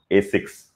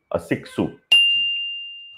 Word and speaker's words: Asics: Five Japanese brands you pronounce wrong. Oh, is it? Okay, you teach me. Yeah, this I know. Asics. Asics. Oh, Asicsu.